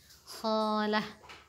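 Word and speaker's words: خالة: Dan kalau untuk perempuannya kita tambahkan ta marbutah, berarti khalatun, khalah. Ditambahkan ta marbutah. Ta marbutah itu adalah ta yang ketika dia berharakat dibaca ta, tapi ketika dia berharakat sukun dibacanya ha.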